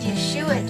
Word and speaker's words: Yeshua: what would Jesus do but actually what would Yeshua do and that my friend when you answer